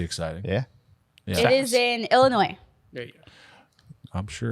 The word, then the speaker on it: Illinois: There's also no noise in Illinois. It's Illinois.